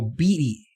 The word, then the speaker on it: Beatty: Oh, Beatty. Rhymes with meaty.